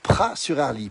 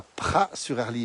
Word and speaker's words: Praz-sur-Arly: s'est créé 15 aides on prononce jamais les aides en savoie il faut le savoir et parfois même on ne prononce pas les à z en 10e place à